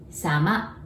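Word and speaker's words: 様: And if you wanted to say politer way of otsukare, all you have to do is to add sama. Sama. Sounds like summer, but sama.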